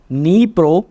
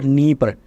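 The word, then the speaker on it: Dnieper: river Neo or Neer different pronunciation is there for this particular River so Neo some sometimes mentioned in articles like this also in Atlas it is mentioned like this Neer so both are saying Neer nepro both are same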